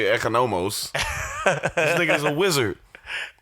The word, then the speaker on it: Economos: How are you going to pronounce it Economist? It's totally Economos.